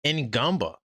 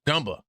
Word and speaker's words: Ngumba: And then what's even more impressive than that is Ngumba. It's not Ngumba, Gumba, the N is silent.